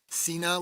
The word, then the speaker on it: Cena: Cena, like John Cena.